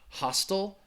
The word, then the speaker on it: hostel: The pronunciation, I just say hostel.